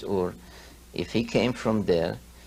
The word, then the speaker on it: Ur: from a city called Ur or eres many people pronounce it but the true pronunciation is or if he came from